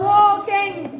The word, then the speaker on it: walking: بصوا يا جماعة ال هنا سايلنت والايه بنطقه. تاني walking. أرجوكوا يا جماعة اللي أنا بقوله ده مهم عشان وأنت بتحفظ الكلمات. الايه اللي في walking اكتب فيها او والال تحتيها نقطة. ال سايلنت تحتيها نقطة.